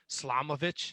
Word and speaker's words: Slamovich: John Wayne Murdoch and Masha Slamovich. Did I say her name right? Slamovich. Yep.